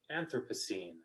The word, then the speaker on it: Anthropocene: it to my attention and here's how you pronounce it anthropocene oh thank you anthropocene no yes isn't it anthropocene anthropocene anthropocene so it's got the accent